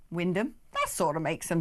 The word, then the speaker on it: Wymondham: One thing that looks like Wymondham is pronounced Wyndham.